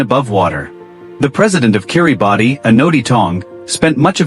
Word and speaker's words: Kiribati: Kiribati, pronounced Kiribati, is a small Pacific